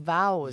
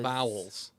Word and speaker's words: vows: correctly super gla vow vowels not vowels vows vowels renewal of vowels renewal of vows yes okay it's like cows both of these oh